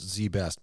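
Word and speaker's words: ZZZZ Best: It's pronounced Z-Best, but it's spelled with 4 Z's.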